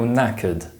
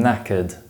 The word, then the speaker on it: knackered: exhausted for example I'm knackered I hardly slept last night remember that the letter K is silent when followed by the letter N at the beginning of words a snog is a